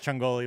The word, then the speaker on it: Ciongoli: say it I mean there's a bunch of different is the real right way to say chungli is the real right way to say it but but um so that's uh my wife says changoli my brother yeah hey